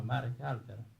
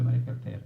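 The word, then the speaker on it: Marek Halter: Bene, c'è una introduzione anche nel libro di Marek Alter, che viene pronunciato alla francese, no? Marek Alter, come i giornalisti italiani sottolineano, e c'è un'introduzione anche per le edizioni italiane.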